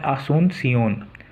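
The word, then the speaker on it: Asunción: ऐसे पराग्यो की क्या है, असून सियोन, ठीक है, प्रोनाउंसिएशन इसका आसूनसियोन, ठीक है।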